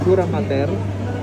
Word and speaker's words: dura mater: So the outermost is the dura mater. Mater, in-explain ko ng mater. Pag mater, ang spelling nyo double T. Kaya dura mater ang pronounce ko para ma-emphasize na it's single T.